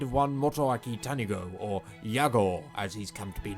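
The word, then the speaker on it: YAGOO: it to be pronounced Yagu, as in shoot Yagu my dude, it is pronounced Yago, as in, you spin my head right round when you go down, down.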